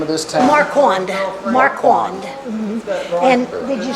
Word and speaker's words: Marquand: So it rained, so we can see the Marquand log cabin and museum.